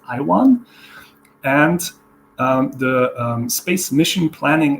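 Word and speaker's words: IAWN: So now we have two organizations, the International Asteroid Warning Network, also pronounced IWAN, and the Space Mission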